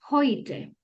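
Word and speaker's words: heute: Por ejemplo, esta palabra cumple la regla de que eh la primera letra es la H, entonces suena como una J. Y luego tenemos el dictongo de la e con la u que dijimos que se lee hoy y luego tenemos la t con la e. Entonces esta palabra se leería hoite.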